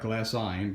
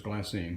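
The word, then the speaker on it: glassine: I any so glass it looks like glass sign but its glass saying whatever so what this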